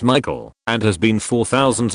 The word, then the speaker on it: Michael: and again this girl was adamant it was pronounced Michelle. Mom beused said something along the lines of it's literally a name from the Bible. It's pronounced Michael and has been for thousands of years.